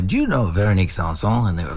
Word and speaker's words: Véronique Sanson: Only because I don't have the pronunciation skills that you have. No, that's cool, man. Véronique Sanson.